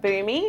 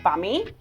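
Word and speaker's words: Bumi: can find us at boo me which is spelt be um I so reads like bummy but trust me is for me oh you're fine is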